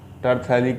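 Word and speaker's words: terephthalic: पे जोड़ना हो तो टरथैलिक, पी साइलेंट है, टरथैलिक एसिड, ठीक है।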